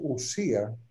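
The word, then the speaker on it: οὐσία: Pero es que sustancia, en griego, entre otras cosas, se dice usía, se escribe ousia, que es el participio presente del verbo einai, que es el verbo ser.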